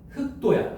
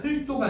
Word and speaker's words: 흙도: 그다음에 18번 흑도야. 흙도가 아니고 흑도. 됐지?